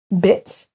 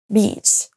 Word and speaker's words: beach: Le premier se prononce bitch, et c'est une insulte, et le deuxième, beach.